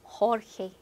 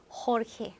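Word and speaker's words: Jorge: 자, 영어의 조지가 스페인어는 허헤, 허헤.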